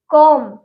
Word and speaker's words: comb: को नहीं बोलना है, वहां पे बी हमारा साइलेंट रहेगा। ठीक है, एग्जाम्पल ले लेते हैं। एग्जाम्पल है हमारा कॉम, ये कॉम्ब लिखा है COMB, एम के बाद